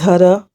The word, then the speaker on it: Huda: So she then introduces herself to the girls and she says her name is Huda and she's like, Huda coulda shoulda.